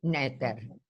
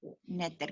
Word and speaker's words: Noether: Se escribe Noether, pero se lee Netter. Netter, gracias.